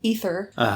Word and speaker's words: Aether: they're gonna use that ether but it's spelled like either yeah but they keep saying ether so yeah whatever the a is silent I guess sure so they're gonna